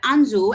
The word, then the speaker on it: Anzu: a core part of it including gaming but anzu and i'm hoping after i pronounced that right did i itamar both of